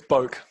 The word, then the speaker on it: Bowk: Yeah, so it's Boke, which, I've had my last name is longer than that.